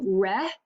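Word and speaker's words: Roethke: is by Theodore re you would say his name re re um so that's how you would pronounce his name um I'm GNA make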